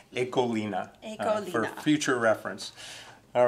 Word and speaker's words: Ecoline: in the US say ecoline you'll hear me say that but there is the appropriate and correct pronunciation in Dutch ekolina future reference all right